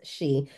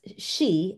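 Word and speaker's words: sidhe: not is she pronounced she so it's spelled s i d h e pronounced she s he e is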